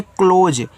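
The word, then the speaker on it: close: तो सी एल ओ एस ई को पढ़ते हैं क्लोज। ई का उच्चारण होगा नहीं। मैंने यहां आपको बताया था।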